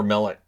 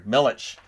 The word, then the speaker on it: Milic: on one that just bounces over Millet so millex millets sorry Milich uh it bounces over